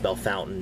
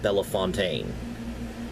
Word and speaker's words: Bellefontaine: county seat and yes it is pronounced Bellefontaine not Bella Fontaine even though a lot of places spelled like that might be pronounced that way and people from out